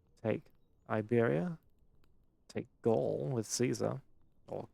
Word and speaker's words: Caesar: From here on out, Rome would expand further, take Iberia, take Gaul with Caesar, or Caesar, it's pronounced correctly, we love Latin, take some of Britannia, expand into Greece, take Greece and Anatolia.